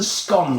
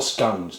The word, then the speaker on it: scone: going to be making up some scon today or scones depending on how you pronounce them now these scon what we're going